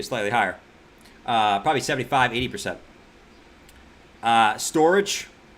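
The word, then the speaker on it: Storj: Storage. Storage J. It's pronounced storage. No, I'm gonna call it Storage J. That's what I've always called it, man.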